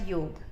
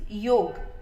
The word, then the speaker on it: yoga: for my former students actually the correct word pronunciation is yoke y ou G the pronunciation of yoga has come from spelling yoga y ou G a because of they have Naga lippy with diacritical mark okay what is the